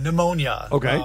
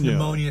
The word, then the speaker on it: pneumonia: a question about a pneumonia first of all pneumonia start with a silent P right um well I